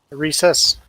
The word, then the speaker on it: Reese's: No, Recess, not Reese. I say Reese's. Apparently, recess is the way to say it.